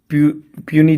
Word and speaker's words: puisne: लगभग 7 जो थे प्यूनी जज बोलते हैं, PUISNE स्पेलिंग होती है इसकी, मतलब जो सबॉर्डिनेट होते हैं वो होता है, प्यूनी जज बोलते थे इनको।